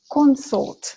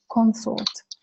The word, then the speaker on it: consort: And consort, okay, so in the noun is consort. The first syllable is stressed and the second syllable is not reduced. You know, it has a long vowel, consort. And verb is consort.